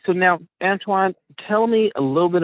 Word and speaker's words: Antoine: I want to make sure I'm pronouncing it correctly. All right. So now, Antoine, tell me a little bit about kind of where you're from, and where you grew up.